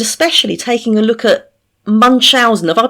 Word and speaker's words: Munchausen: Things which no child should have to go through, but especially taking a look at Munchausen. Have I pronounced that right, Nancy? Munchausen by proxy?